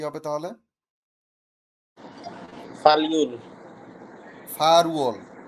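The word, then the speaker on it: 팔월: আটকে বলে ফাল, আর মাস গণনার একক হচ্ছে উয়ল। ওই একই কথা উচ্চারণে গিয়ে হয়ে যাবে ফা রুয়ল। ফাল উয়ল হবে না, ফা রুয়ল হয়ে যাবে।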